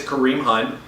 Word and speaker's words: Kareem Hunt: The first one is Kareem Hunt.